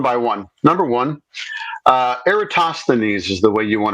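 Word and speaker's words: Eratosthenes: Number one, uh, Eratosineses is the way you want to pronounce that. Ersanes, I think, as close as we can get.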